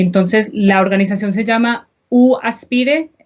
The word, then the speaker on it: UAspire: Y también les quiero contar de mis amigos en la organización UAspire, se dice en inglés UAspire, en español se pronuncia UAspire, que es una organización que trabaja con estudiantes y familiares para planificar la ayuda financiera de la universidad.